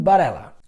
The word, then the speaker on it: Varela: E a pronúncia do V em espanhol puxa mais pro B. Então, Christian Varela.